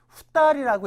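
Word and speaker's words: 二人: 이건 뭐 충분하게 읽을 수 있는데 두 사람 할 때 이렇게 2인이라고 나왔을 때 여러분들 후따리라고 읽으셔야 돼요. 후따리.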